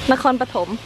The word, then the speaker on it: Nakhon Pathom: Nakhon Pathom.